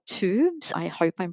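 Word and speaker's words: Twobs: It's a brand called Tubes. I hope I'm pronouncing that okay.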